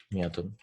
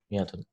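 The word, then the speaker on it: مائة: Miyatun. Some people write it like this, and some people write it like this. Both are fine. With an alif. That alif is not pronounced. Miyatun.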